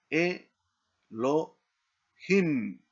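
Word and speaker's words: אֱלֹהִים: Y aquí leemos e lo himim. Elohim.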